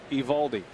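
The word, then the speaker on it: Eovaldi: DI but you don't you don't hear the O in his name it's just evaldi you got to be careful with those silent letters and names Jerry harison pretty much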